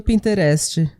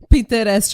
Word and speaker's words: Pinterest: Aquelas fotos que todo mundo tem no Pinterest. Sim, exato. E... Pinterest, eu abrasileirei total a pronúncia. O Pinterest. O Pinterest, o Pinterest, gente.